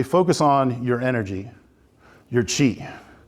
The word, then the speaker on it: qi: So in Chinese medicine, they focus on your energy, your qi, spelled QI, again, Chinese pronunciation, doesn't follow phonetically with ours.